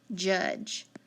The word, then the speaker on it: judge: silent short you j judge d and e is silent short u so these are all